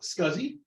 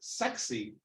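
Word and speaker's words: SCSI: beyond my case uh scuzzy oh sure wasn't he a bear no close stop what now there was an attempt to have it pronounced sexy but that didn't take it I can't imagine why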